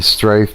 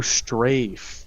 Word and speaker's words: strafe: Like, you know, you can move forward, backwards, and you strife to the left or the right. Oh, strafe. Strafe, yes.